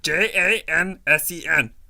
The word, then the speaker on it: Jansen: It's spelled. Johnson, J-A-N-S-E-N.